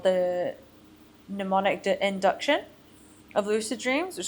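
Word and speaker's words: mnemonic: It's cuz I misspelled it so that I would say it correctly. It's actually got a silent M at the beginning.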